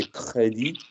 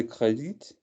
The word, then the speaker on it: crédit: Carte de crédit? Spell credit as you seem to think it's pronounced. Carte de crédit. As it's pronounced, it would have an E on the end.